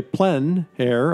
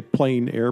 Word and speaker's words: plein air: or the open air the French say plenn air others say plein air but no matter how you say it there's a huge movement